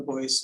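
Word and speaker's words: Boise: 4 trees in the Boyce neighborhood. And just to note, I'm using the original pronunciation of the neighborhood, Boyce. Some people say Boyce, but I'm going to say Boyce for this presentation.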